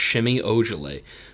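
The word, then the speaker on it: Semi Ojeleye: l ey e so but it's pretend it's pronounced shimmy urgently but he's a baller he's he's really good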